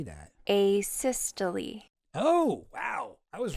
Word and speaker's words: asystole: And finally, worked asystole arrest.